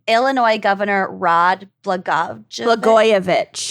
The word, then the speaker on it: Blagojevich: This is, okay, so I forgot how to pronounce his name. Illinois Governor Rod Blagojevich. Blagojevich, that's what it was.